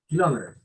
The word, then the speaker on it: kilometers: kilometers. Kilometers. Yeah, How do you pronounce better? kilometers. 3 kilometers. Kilometers. 3 kilo, en la O está la señal.